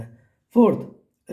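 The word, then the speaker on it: half: एल को circle करना है फोर्थ रिस्ट तो इसमें डब्लू साइलेंट है रिस्ट में डब्लू की साउंड नहीं आती फिफ्थ देखिए हाफ तो इसमें एल साइलेंट है सिक्स देखिए कैच तो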